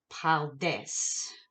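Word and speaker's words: פרדס: and that is the paldes. Now, just for clarification, the R is pronounced like the French R. Hebrew R, French R, they're the same, back of the throat.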